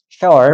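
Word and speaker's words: 스올: 축복한다 바뀌고 자 13절 내가 수월 샤월 원래 샤월이에요. 발음이 지옥을 말하는 거죠.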